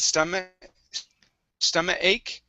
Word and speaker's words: stomach ache: Okay, you need to pronounce the K sound on stomach. It said stomach ache.